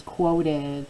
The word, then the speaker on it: quoted: The next word is quoted. Tap those syllables. Quoted. I know this UO looks like a double vowel, right? But remember that QU works to make one consonant sound.